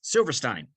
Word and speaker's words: Silverstein: So the band that we're talking about in its pronunciation, as I'm looking at it here, the way they define it, is Silverstein.